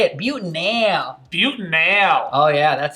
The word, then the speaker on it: butanal: Now careful how you pronounce that. Butanal. Butanal, good. And we don't wanna mix that up with butanol, which would be an alcohol, so really stress that Al at the end.